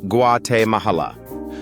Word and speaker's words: Guatemala: At number six is Guatemala, pronounced Guate Mahala.